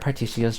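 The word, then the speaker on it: Partitio: Oh, they use a hard T for both of them. I wonder if they pronounce it the same in English.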